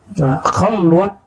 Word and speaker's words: khalwat: Khalwat dar anjuman, bukan khalwah ya.